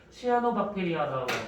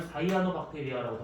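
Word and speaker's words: cyanobacteria: 시아노박테리아라고 하고 요즘은 사이아노박테리아라고 하는데 발음을 왜 그딴 하는지 모르겠는데 아무튼 그렇답니다. 그리고 여기에서 기권의 이 산소량이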